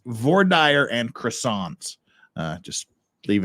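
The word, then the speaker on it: voir dire: from Paris France says if it's based on French yes it's vaer yes it is based on French but H the French also not only do the French pronounce VOR dire wrong they they also pronounce croissant wrong and things like that too but we won't we won't make too much fun of you H la la Pat just you know remember it's it's vire and croissant uh just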